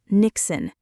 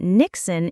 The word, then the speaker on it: niksen: It comes from Dutch culture and it's called niksen. Niksen? How do you even spell that?